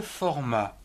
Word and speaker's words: format: Le format, F-O-R, fort, M-A-T, format.